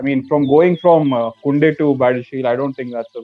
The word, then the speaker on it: Badiashile: B, if you can pronounce his name? Badiashile. Yeah, he's Badiashile.